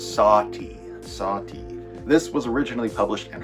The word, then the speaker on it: Sati: This is called Sadie, and I believe that's how it's pronounced. Is it Sadie? I think there's actually a pronunciation in the book. Oh, sorry, it's Sati.